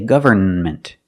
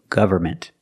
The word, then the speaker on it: government: With government, the N is silent in the middle. Don't say government. It's government.